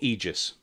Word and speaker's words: Aegis: i've never quite sure is it aegis or aegis system well aegis is this is the pronounced pronunciation i use but aegis is something i think we've also said so i don't know which one uh which one is the official pronunciation but that really changed